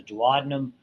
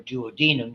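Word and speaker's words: duodenum: small intestine which is called the dadum or duodum depending on where you want to put the syllable.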